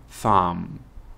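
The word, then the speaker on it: thumb: فينجر لكن اسبوع الابهام فام فام وهنا البي سايلنت لا تنطق اوكي يبقى اللي هو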